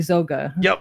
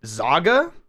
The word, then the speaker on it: Zoga: I always laugh because people either say zaga or they butcher it into something else and my favorite